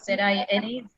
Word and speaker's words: Zina: Z-I-N-A, Zina. Yeah. Right.